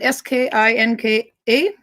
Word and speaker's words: skinka: Skinka is ham. So the way you spelled it, S-K-I-N-K-A, is Swedish skinka.